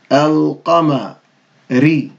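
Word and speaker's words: القمر: No shadda, so we're going to pronounce the alif lam. Al-qa, al-qa-ma, al-qama, al-qama-ri, al-qamari, al-qamari, al-qamari.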